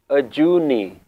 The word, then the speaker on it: Ajooni: So here the pronunciation is Ajooni. In Bani, in Shabads, it will be pronounced Ajooni.